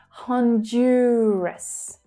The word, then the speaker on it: Honduras: So the stress there is on the second syllable, also the most trickiest. Jew, Honduras, Honduras, Honduras.